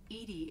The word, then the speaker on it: EDI: Why are you named Edie? Edie is the phonetic pronunciation of EDI.